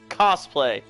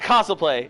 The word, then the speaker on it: cosplay: little chuckling shut it it's pronounced cosplay it's not console play its cosplay shut up man hey